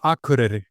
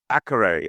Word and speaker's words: Akureyri: Remind me how to pronounce it. I don't want to butcher it. University of Akureyri. Akureyri.